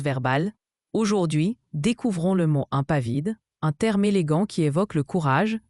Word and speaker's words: impavide: Impavide se prononce impavide.